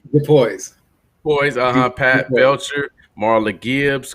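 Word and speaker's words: Starletta DuPois: How's it pronounced? DuPois.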